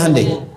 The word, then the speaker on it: Hyundai: Hyundai kan dibacanya Hande ya kan sana Honda sini Handai gitu.